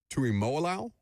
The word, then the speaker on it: Tuimoloau: JT, and I'm going to butcher his last name, the edge rusher out of Ohio State, Tuimoloau, I believe is how you say it.